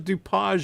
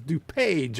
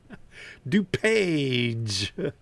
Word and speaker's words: DuPage: really appreciate it okay it's not DuPage it's DuPage okay like in a book okay thank you Barry for that pronunciation okay now I know DuPage all right so where